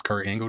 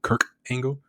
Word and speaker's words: Kurt Angle: He used to also pronounce Kurt Angle name wrong. He used to call Kurt Angle Kirk Angle.